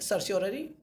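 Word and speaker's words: certiorari: सर्सियोररी, सर्सियोररी कहते हैं दोस्तों इसको, सही प्रोनाउंसिएशन ही है सर्सियोररी।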